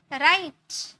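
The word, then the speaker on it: write: र में, रिंस, rest, राइट। अब यहाँ पर W प्रोनाउंस नहीं है, यहाँ पर W साइलेंट है, आर से स्टार्ट हुआ, राइट।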